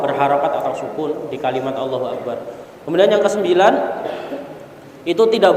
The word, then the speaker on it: Allahu Akbar: Kata Allahu Akbar ini harus satu barisan, harus satu pengucapan. Allahu Akbar, bukan Allah Akbar gitu ya. Mandek sih kalau misalkan kalau di hukum tajwid itu ada saktahnya gitu ya. Allah Akbar, nggak boleh.